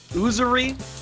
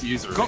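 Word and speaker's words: usury: Userie or sees the means of production. Why'd you say it like that? Is it userie? Yeah, it's usery.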